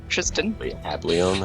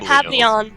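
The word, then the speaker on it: Hablion: Hableon. Havleon. Javier. Hab, H-A-B, Lion, but it's pronounced Leon. L-I-O-N.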